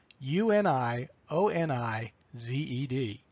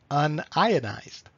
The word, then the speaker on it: unionized: an ax to pronounce uni o ni ze D the plumber will read that and say it as our pronounce it unionized while the chemists might read it Anaya dies it's the same word